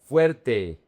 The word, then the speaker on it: fuerte: Fuerte. The diphthong is very important.